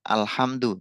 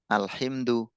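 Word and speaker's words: الحمد: kenapa kita bacanya alhamdu, tidak alhimdu atau alhumdu. Atau misalkan memnya ini kenapa nggak kita baca alhamadu, alhamidu, alhumudu misalkan. Kenapa kita memilih alhamdu?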